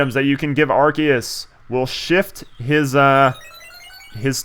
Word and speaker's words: Arceus: now I know that Arceus has several pronunciations for his name ranging from Arceus to Arceus I used to call